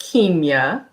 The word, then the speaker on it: Kimya: you would you like us to call you kimya dr what's your preference for today you can call me doctor so my name is pronounced kemia so it's spelled and i pronounced the long